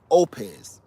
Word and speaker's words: Oupes: oh uh somebody just opes opez you was right babe she pronounced it earlier and i said that sound right opez and that's how i'm gonna say it i'ma bring you in